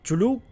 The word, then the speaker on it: Cthulhu: Cthulhu, Chulu, Cthulhu, Cthulhu, Zuzulu. Bueno, nunca lo sabremos. No, en realidad sí, sabemos que en teoría creo que la pronunciación es Cthulhu.